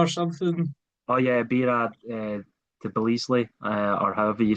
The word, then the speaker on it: Tbilisi: oh yeah, Bira Tbilisi, or however you say the capital of Georgia. My Tbilisi, pronunciation, yeah, Tbilisi, that's the one.